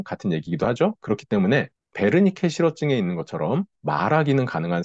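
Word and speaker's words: Wernicke: 그 다음으로 베르니케 실어증, 뭐 워니크라고 발음하시는 분들 계시는데요.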